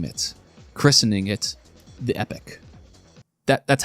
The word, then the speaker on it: Epoch: We can also name it, christening it the Epic. That's how that's pronounced, right? I was being a bit of a dickhead about properly pronouncing Masamune, but it is pronounced Epic, not Epoch, because I thought it was like Epoch until